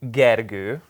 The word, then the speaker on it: Gergő: My name perfectly is Gergő, but that's so I've been saying it wrong all this time. Actually in English it's Greg.